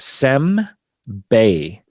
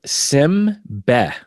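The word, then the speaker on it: 煎餅: So it's pronounced sem-bei. Senbei. Yeah. But in my family, we called it sim-be. Simbe. Sim-be, not sem-bei. Like neither syllable is correct.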